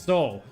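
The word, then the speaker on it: Seoul: Oh, it's pronounced Soul.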